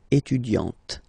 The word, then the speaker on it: étudiante: Okay, you don't really insist on the E, but you insist quite much on the T. Elle est étudiante.